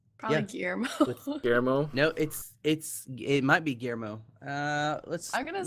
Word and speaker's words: Guillermo: that He's would the be guy who directed pronounced. Pan's no, Labyrinth. it's Guillermo.